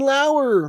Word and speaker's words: Lauer: the review show it lauer rhymes with tower come on guys spelled like lower okay thanks uh yeah